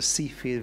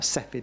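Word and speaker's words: Cepheid: there's a particular kind of star called a Seafield variable star or seid variable the people pronounce it in different ways but um essentially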